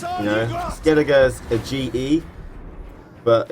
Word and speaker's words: Skellige: Skellige's a GE, but it's pronounced Skellige for some reason.